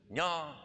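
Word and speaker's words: nyob: So hello is nya zhong. It's spelled N-Y-O-B, and the B is a tone marker, and the double vowel is an ong sound with no tone marker, which is flat.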